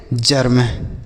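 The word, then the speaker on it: germ: इ के बाद अगर आर रहेगा तो इ का जो उच्चारण होगा बच्चों वह आ के रूप में होता है।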